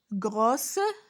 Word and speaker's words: gros: On ne dit pas grosse ou bien grosse, non. On dit gros. Le S se prononce pas, il est muette.